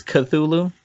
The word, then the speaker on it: Cthulhu: I like the whole the Cthulhu monster, if that's how it's pronounced. I like that Cthulhu. monster. It's Cthulhu.